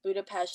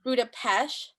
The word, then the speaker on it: Budapest: So the drive from Vienna to Budapest is only what, like 3 hours. It's super Mm, close, like right mm. there. Oh, Right. fun fact for you. Oh, It's please. pronounced Budapest, not Budapest.